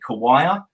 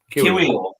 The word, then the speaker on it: Kiwior: With Jakub, I'm going to get this surname wrong, but I'm going to say Kawaya. Jakub Kawaya. The Arsenal centre-back, that'll do. Yeah. Kiwior. There we are.